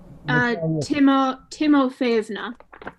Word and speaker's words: Timofeevna: Natasha's last name, Timofeevna. Timofeevna. Timofeevna. Yep. Timofeevna. Like the third accent is usually syllable. The third syllable is usually accented.